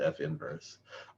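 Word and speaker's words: f⁻¹: a function it's written its inverse is written f minus 1 of x pronounced f inverse i'm not entirely happy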